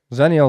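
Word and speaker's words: Xennial: exal or whatever no zenial is when they're they're Millennial to zers no right zenial is spelled with an x x e there you go then it's like xylophone yes that's fine so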